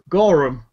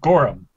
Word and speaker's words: Goram: what these eyes do keep saying my name wrong you dishonor my people every time you say it gorum no Goram I don't let me